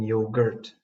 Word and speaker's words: yogurt: Again, special attention should be paid to the U sound. It is similar to the U in the word hurt. For example, don't forget the frozen yogurt.